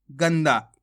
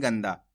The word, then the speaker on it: गंदा: पढ़ेंगे गंदा कैसे पढ़ेंगे गंदा यहां पर अपन आधा ना का उच्चारण करेंगे गंदा और इस शब्द को कैसे